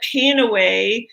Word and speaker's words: PanAway: it just flew or some people call it panaway with a long a rather than a short a when they're pronouncing it